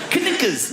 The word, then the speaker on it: knickers: Of all the letters, why would a K BE SILENT? KNICKERS.